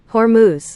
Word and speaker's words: Hormuz: How do you pronounce it? I said it wrong? Hormuz.